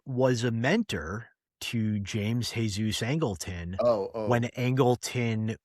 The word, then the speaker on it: Jesus: Well, too bad he wasn't a better mentor because James Jesus Angleton would have been a It was better. pronounced Jesus. I know, but Yeah. I like the the Anglophile mispronunciation.